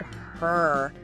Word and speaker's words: her: The H sound at the beginning of her is very commonly dropped when it's unstressed. It just vanishes.